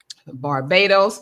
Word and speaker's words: Barbados: So, since I'm in Mexico and I got my friends here who are in Panama, Barbados.